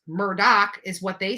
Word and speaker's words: Murdaugh: What one article aptly called "Lots of Dead People and Crime" involves the Murdaugh, pronounced Murdoch is what they say, but it's Murdaugh, family which has amassed power and wealth in South Carolina for over 100 years.